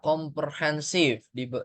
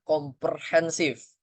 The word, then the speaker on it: komprehensif: Hati-hati menyebut kata komprehensif. Karena kenapa? Ya karena kita ngomongnya komper, PER, ya. Jadi tulisannya PER. Harusnya dia kompre, walaupun dibacanya komprehensif.